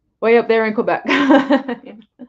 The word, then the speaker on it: Quebec: up there in Quebec I always say I'm saying it wrong it's Quebec I I I we had this discussion on step's channel last night I grew up saying Oregon when it's Oregon I I've grow saying Quebec when it's Quebec it's